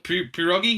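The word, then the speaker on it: pierogi: PR is how do you say it pirogi pirogi yeah what is that like pirogi is um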